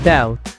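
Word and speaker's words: doubt: استعمالا في اللغه الانجليزيه الحرف بي فيهم سايلنت وماتيتنطقش الكلمه الاولى هي داوت داوت اللي كتعني الشك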